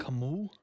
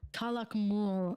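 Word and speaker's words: Calakmul: Tikal is one of them, and yes, Tikal, Kalakamu? Kalakmul, and you'll like this one.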